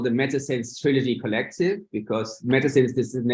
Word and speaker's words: SENS: And sense, of course, it rhymes with JENS, but also because it means sense, meaning, you know, and in French it's sens.